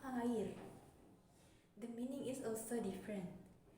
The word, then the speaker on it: air: In English, there is the word air. In Indonesian, there is also the word air. But what makes the difference here is in English, the pronunciation of the word air is as follows, air. Meanwhile, Indonesian pronunciation is different, namely air.